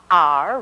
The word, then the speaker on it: are: with chair where chair this spy is r are you watching me r rhymes with star r star our last spy for today